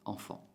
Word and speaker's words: enfant: Sigue la palabra enfant. Entonces, es el mismo sonido nasal, pero que se escribe de dos maneras diferentes. E-N, A-N, enfant.